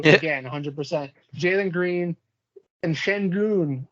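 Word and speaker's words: Şengün: 100 jalen green and shen goon i believe i i believe it's pronounced but i'm still learning how to pronounce that one but he is just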